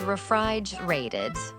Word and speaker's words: refrigerated: Ooh, that's a big word, refrigerated. Let's practice that one, refrigerated, in American English, because that final T is between 2 vowels. It sounds like a D.